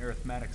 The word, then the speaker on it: arithmetic: talk about what an arithmetic sequence is. This word can be pronounced arithmetic. That's usually how I say it. But you'll hear some other pronunciations of it.